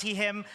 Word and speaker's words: Huidobro: lovely introduction from Yanna my name is pronounce Heim uh I'm originally from Chile living in Austria